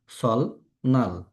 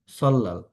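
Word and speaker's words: 설날: যদি এটা না থাকতো তাহলে এটা আমরা কি উচ্চারণ করতাম সলনাল সলনাল কিন্তু এই রুলসটার কারণে এটা আমাদের পড়তে হবে সল্লাল।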